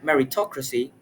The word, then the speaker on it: meritocracy: In that word meritocracy, she clearly stressed the syllable me and which if it was